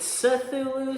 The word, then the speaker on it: Cthulhu: cthulu Death may die now you may want to pronounce it culu culu I say cthulu Maybe I'm Wrong maybe I'm right someday HP Lovecraft will